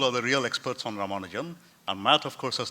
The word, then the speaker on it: Ramanujan: And it is Ramanujan. So, and if you want to pronounce it in an authentically Tamil way, then you could feel free to drop some vowels. So Ramanujan would be fine, or Ramanja would be fine.